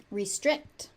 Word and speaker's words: restrict: Restrict. Restrict. This is a consonant cluster at the end. So, restrict. Restrict. The T does occasionally gets unaspirated into oblivion. So, it just sort of disappears.